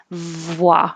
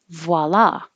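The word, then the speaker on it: voilà: that because it pushes the lips too far away so start rounding your lips immediately after making enough noise voila and then you have to open for the ah vowel voice voila and the stress is on the second syllable and i think it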